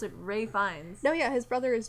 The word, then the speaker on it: Ralph Fiennes: It's pronounced like it says like Ralph Fiennes or something like that, but you actually pronounce it Ray Fiennes.